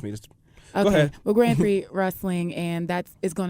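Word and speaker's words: Grand Prix: that's how trust me go ahead okay well Grand Pre wrestling and that's is going to be happening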